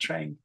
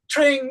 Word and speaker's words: Trang: Okay, so, and it's pronounced Trang, like that, Trang. Mm. So, Trang, what do you do?